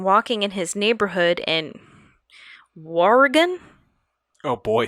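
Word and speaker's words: Wauregan: one witness had been walking in his neighborhood in warrigan oh boy spell that w-a-u-r-e-g-a-n while regan w-a-u-r-g-a-n r-e-g-a-n warrigan war where yeah it's like if if wario took over the state of oregon and it was wow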